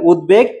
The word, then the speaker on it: উদ্বেগ: দেখো ব ছিল মাঝে। যদি শুরুতে থাকে শেষে থাকে তার উচ্চারণ হবে না। কিন্তু যদি মাঝে থাকে তার উচ্চারণটা বহল থাকবে। তাহলে উদ্বেগ এটা সঠিক আছে।